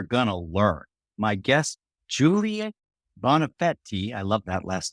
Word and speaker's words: Bonafede: today we are gonna learn my guest Julia bonafetti I love that last name and yes Cree did tell me how to pronounce it is the co-founder of Rosetta analytics